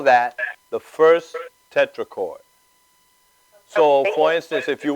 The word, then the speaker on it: tetrachord: Is there something as a treacherous, how do you say it? Tetrachord? A tetrachord, yes, tetrachord.